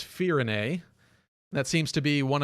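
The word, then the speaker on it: Firene: kingdom of firenae uh the first trailer I wasn't quite sure how to pronounce it so I called it firing um but it's fear in a that seems to be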